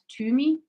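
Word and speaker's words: Tymi: out the restaurant called tumi oh tami tumi yeah you say it but the albanian pronunciation is tame you know not to me it basically translates to smoke and they have incredible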